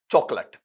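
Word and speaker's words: chocolate: Sound है, noun है, तो स्ट्रेस आपके पहले सिंपल पर आ जाएगा। ये उच्चारण इसका चॉकलेट, ठीक है।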